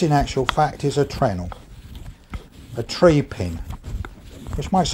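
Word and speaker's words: treenail: like everything in the woodworking trade we don't pronounce that properly we call them trenel so this in actual fact is a trenel a tree pin which makes a lot of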